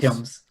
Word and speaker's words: Thames: It's pronounced Thames. It's pronounced Thames.